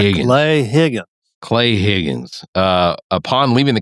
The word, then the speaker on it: Higgins: Got to pronounce it correct. Higgins.